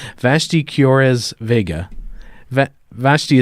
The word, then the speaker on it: Vashti: or as Vega vet Vashti is is that how you say your name yes it is you pronounce it correct oh yeah yes well